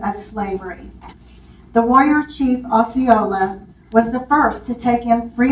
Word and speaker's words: Ocala: still is, Kacha, panther, How did they pronounce Ocala? Ocala. Oh, Ocala. The way I saw it, it was actually Ocali, but we call it Ocala now.